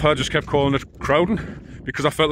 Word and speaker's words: Crowden: miles away from crowden crowden that's where I stayed on the first night and you spell that c r o w d e n and he called it cruden the New York accent